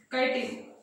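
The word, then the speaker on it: chitin: तो फंजाई का जो सेल वॉल है उसका इम्पोर्टेंट कंपोनेंट है mostly made of काइटिन, काइटिन या चिटिन कुछ कुछ ऐसे भी प्रोनाउंस करते हैं।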